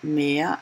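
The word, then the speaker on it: Meer: of my videos that mere pronounced could be the sea but it could be more so but it's a different spelling of course but it sounds the same and that's why I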